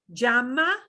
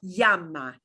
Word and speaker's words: llama: You can pronounce it as llama with a tiny J or llama. Either way is acceptable. And either way is easily understood.